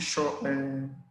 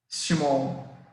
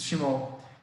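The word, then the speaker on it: Schmorl: chamado de nódulo de Schott. Eu esqueci como é que é a pronúncia aqui. Schmoll. Exatamente isso, Schmoll.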